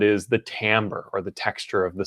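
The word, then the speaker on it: timbre: spelled t IM BR e you know it's pronounced Tambor which i think is a little bit weird but Tambor is essentially the texture of a sound the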